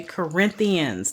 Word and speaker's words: Corinthians: now here's another book that kind of gets mispronounced First Corinthians okay Corinthians the Church of the Corinth Corinthians right then